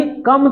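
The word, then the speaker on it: calm: उतना ही कम तुम अपना रिफ्लेक्शन इसमें देख सकते हो। The more restless it becomes the less clear you कैन see your reflection. कामनेस इज द की। काम ये एल साइलेंट है।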